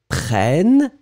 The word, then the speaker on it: prennent: Because when you've got and then double N right after, double consonant, it will open the sound of the E. So you'll pronounce prenne, E. So remember, so nous prenons E because only one end. Vous prenez E because only one end. Ils prennent, because you get two ends.